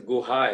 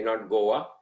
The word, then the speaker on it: Goa: elephants and this is guha actually not goa go just like we say gohan it's between gohan and goa that is how they pronounce it and this is the